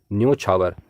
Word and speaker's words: न्योछावर: क्योंकि यहां पर य में औ का प्रयोग हुआ है जबकि शुद्ध रूप में ओ का प्रयोग होगा अर्थात ओ स्वर यहां पर जुड़ेगा तो शब्द बनेगा न्योछावर यही इसका शुद्ध रूप है शुद्ध उच्चारण है अगला शब्द है तूफान